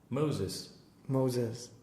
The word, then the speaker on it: Moses: No, listen. Moses. Crazy. Z and S. Normally you think it's the other way around.